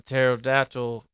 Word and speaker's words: pterodactyl: like why does a pterodactyl uh uh why can't you hear a pterodactyl go to the back bathroom cuz the PE is silent and like just stupid